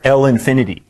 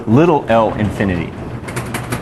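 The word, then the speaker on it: ℓ∞: And the way you pronounce that is L infinity or little l infinity, because we're going to have big L's later on when we talk about continuous time.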